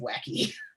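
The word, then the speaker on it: wacke: the same thing um then you call it wacky yes that's how that's pronounced wacky it's real fun to say um but in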